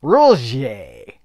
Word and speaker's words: RLJE: And it's not J-E. You don't say the J-E is J. You say it uses a J, like it's French. J. Rulje.